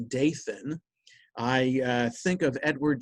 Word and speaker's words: Dathan: and um reminded of da tan which i guess in english would be pronounced dathan i uh think of